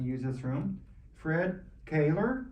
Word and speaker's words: Koehler: Fred Koehler, pronounced, from Yep.